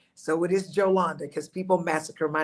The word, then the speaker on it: Jolanda: My name is Yolanda. It is not Yolanda.